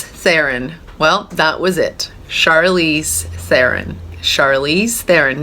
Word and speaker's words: Charlize Theron: How to pronounce Charlize Theron? Well, that was it. Charlize Theron.